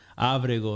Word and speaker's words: Abrego: Abrego is how my grandfather pronounced it, is my official name, which I'm learning.